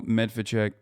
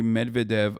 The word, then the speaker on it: Medvedev: The Western official pronounced the name of the killed commander as Colonel Medvedchuk, but didn't give spelling.